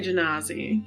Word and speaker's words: Genasi: That is an Earth Genasi. Or an Earth Mm. Genasi, however you want to pronounce it. I also- say Janazi.